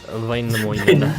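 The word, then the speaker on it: Väinämöinen: I don't know how to pronounce it, so I'm just going to say Vainamoinen. Proudmore. It's Vainamoinen.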